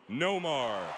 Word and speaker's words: Nomar: the new york yankees whether you pronounce his first name with an r or an h please welcome back the one and only nomar garciaparra catching nomar